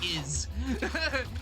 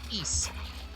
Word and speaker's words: Ys: a kid cuz I always thought it was pronounced is, but no, it's pronounced east.